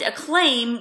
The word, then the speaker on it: acclaim: Jehovah's Witness congregations and a claim rhymes with names so there's that but then again so does their other favorite word proclaim okay so they're doing